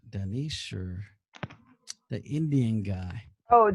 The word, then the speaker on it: Dinesh: The harvesting, the mail-in, And it's Dinesh, or fraudulent. how do I say his name? Danish, or the Indian guy.